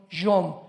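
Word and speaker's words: יום: Y tiempos o días son yom, Y-O-M de mamá.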